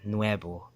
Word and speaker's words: nuevo: Or this word here, nuevo. That V makes a B sound.